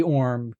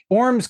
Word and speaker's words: Ormes: Uh, I'm gonna pronounce it Orm, uh, because that's how she pronounced it, but okay. Orms could very well be the correct answer. Um, so my apologies to, uh, all of the Orms's out there if I'm mispronouncing your last name.